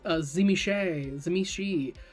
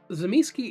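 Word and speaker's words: Tzimisce: He says Zimiski. There's a great video of asking White Wolf people at a convention how they pronounce it. If I get people correcting my pronunciation or telling me that it needs to be pronounced Zimishi, I'm going to lower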